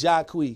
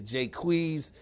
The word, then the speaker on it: Jacquees: this guy's name right I think he's jock we cuz you hear you turn your jacquees you hear Jay Cui's I I you know I'm hearing different things I'm gonna just say